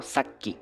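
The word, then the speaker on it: さっき: Esta es la sílaba sa y esta es la sílaba qui y como tiene el su chiquito en el medio se hace doble, ¿no? Saki.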